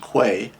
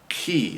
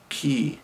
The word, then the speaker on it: quay: here it's looks like it should be pronounced quay but it's actually key and that is a